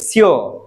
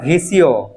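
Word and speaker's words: всё: এটা মানে কি সবকিছু সিও সিও সিও ভ এস ইও এটার উচ্চারণ হওয়ার কথা ভিসিও ভি সি ও কিন্তু উচ্চারণ হবে সিও সিও সিও অর্থাৎ এফ এর উচ্চারণটা হালকা সফট হবে আপনি যদি এফ এর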